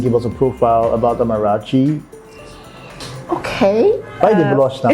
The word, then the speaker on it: Amarachy: So people can just spell it differently, even though it's pronounced the same way.